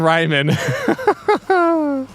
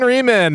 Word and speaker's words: Ryman: Or Shyman Ryman. Thanks for the shout out on today's pod. And just for future, it's pronounced Schemin' Reemin', like schemin'.